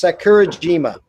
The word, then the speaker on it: Sakurajima: It's Sakurajima.